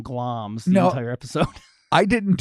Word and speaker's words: Glamis: Well, because it's spelled Glamis. Glamis. Yeah, glams. And I said Glamis the whole time until I just took the time to Google it. I'm like, oh, glams. Glams.